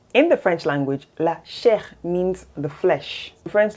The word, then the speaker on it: chair: Same spelling, completely different pronunciation, completely different meaning. In the French language, la chair means the flesh.